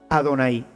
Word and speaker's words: Adonay: ellos la leen pues ellos tenían llave pero no pronuncian llave ellos cuando ven este programa van a pronunciar adonay porque esto es lo que